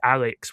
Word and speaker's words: ARX: This show is called ARX, pronounced Alex, which is not the Gundam Alex from 0080.